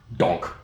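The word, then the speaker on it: donc: In French it's donk. Donk. D O N K.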